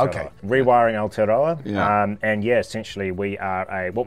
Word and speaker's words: Aotearoa: So the indigenous name for New Zealand, or the Maori name for New Zealand, is Aotearoa. Aotearoa, okay. Rewiring Aotearoa.